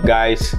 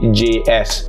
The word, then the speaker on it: Gijs: Nama dia Gijs, and bukan yang yo what's up guys, dia Gijs, Gijs. Itu cara spelling dia. Dia orang Netherlands. So cara pronunciation dia Gijs.